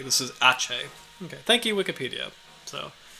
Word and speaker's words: Aceh: So I apologize for not pronouncing that correctly. This is Aceh.